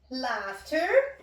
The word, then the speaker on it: laughter: The silent letters are the G and the H.